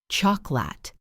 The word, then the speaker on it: chocolate: It looks like it has 3 syllables, chocolate, but we say chocolate. 2 syllables. Think about comfortable.